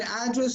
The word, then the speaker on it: address: your address that's it what is your address or your address both pronunciations are correct what is your address